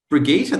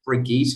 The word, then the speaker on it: Brigitte: uh clear the pronunciation if you want to pronounce my name it's brigitte brigitte that sounds better i like it brigitte that's what what nationality